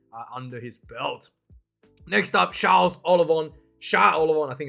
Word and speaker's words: Charles Ollivon: Next up, Charles Ollivon. I think is how I pronounce it in French.